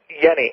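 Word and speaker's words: Jenny: work of uh Dr H's Yenni and it's spelled Jenn y oh stics simatics yeah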